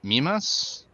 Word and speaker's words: Mimas: Oh, is it Mimas It might be.